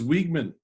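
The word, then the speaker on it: Weeghman: put in lights um was it pronounced wigman it was wigman wigman park um and charlie wigman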